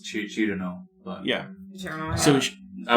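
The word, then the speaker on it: Cirno: The official way to say it is Chirno. But yeah. Chirno, So, I would say Cyrano.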